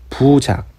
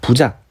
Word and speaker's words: 부작: 부작, 이게 아시죠? 원래 불자인데 디귿이나 지읒 발음 앞에서는 이 리을을 생략합니다. 자, 부작.